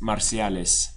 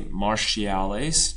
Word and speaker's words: marciales: one lases marciales repes marciales English speakers be careful not to say marciales don't try to grab that English pronunciation marciales or in Spain marciales